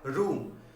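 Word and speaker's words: rheum: Next word देखिए हमारे पास word आया रूम। इस वर्ड का प्रोनाउंसिएशन ध्यान रखिएगा, ये आपका रूम वर्ड है। आर जैसे कि होता है घरों में कमरे होते हैं, रूम बोलते हैं, उसका प्रोनाउंसिएशन क्या है, रूम है।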